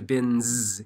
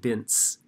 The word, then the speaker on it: bins: So the N in bin changes the S at the end to bins instead of bints.